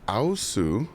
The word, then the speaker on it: aosu: a big box ooh we have a new U I actually just learned how to say this